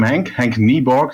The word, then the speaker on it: Henk Nieborg: Well, I'm Henk Nieborg, that's how you pronounce it actually.